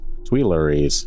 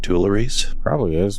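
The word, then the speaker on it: Tuileries: 1792 storming of the Twer Palace. Tweries. Tweries. Twer, you guys get it. During the French Revolution, it's not Teres, but don't spell it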